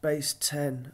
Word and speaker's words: BaseX: And I quite like the visualization tools that are available in this BaseX database, which I believe might be pronounced Base 10, I'm not sure.